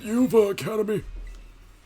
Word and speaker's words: Uva Academy: That's right, they're referring to Uva Academy. It's pronounced Uva Academy.